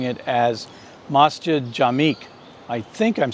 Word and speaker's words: Masjid Jamek: Oz Latif has written in and told me that I should be pronouncing it as masjid jamek I think I'm saying that correctly so mustard